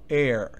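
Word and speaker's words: heir: en las palabras siguientes la H es sorda es decir no se pronuncia Por consiguiente antes de ella se debe usar y no a Si fuera necesario por ejemplo Air y cómo sé yo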